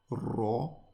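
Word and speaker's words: ر: This one is ro. Again, mouth turns into a circle.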